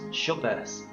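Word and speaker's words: Dschubba: scorpion star the star's first name itself is pronounced shovers and surprise surprise it's yet another b-class star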